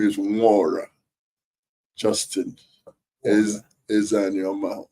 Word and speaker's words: Nwora: My name, by the way, my name is Nwora Justin. Is an Yoma. Nwora is an Igbo name. N is silent.